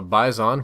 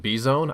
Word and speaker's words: Bizon: also check out the previous episode on the Bison which some people have told me is pronounced B Zone I don't really believe that but we'll see uh you